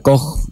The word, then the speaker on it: Koch: En realidad en alemán se pronuncia Koch, como una J a la CH, pero es que son los bacilos de Koch, digamos, como lo conocimos en la infancia.